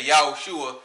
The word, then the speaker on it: Yahushua: is Jesus right but we say yahushua cuz we know that in the in his original language which was hebrew that's how you would pronounce his name all right through the